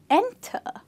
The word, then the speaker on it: enter: So for this one, how do you say enter? No, you say enter. So the stressed syllable is the first one.